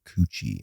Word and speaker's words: Kotu: Well, it's probably how it's pronounced in a proper world, but my whole family for generations have pronounced it coochie, and I'm known as coochie.